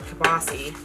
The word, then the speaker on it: kielbasa: is stopping to get our kobasi which is a pittsburgh way of saying it i know it's probably kielbasa but in pittsburgh we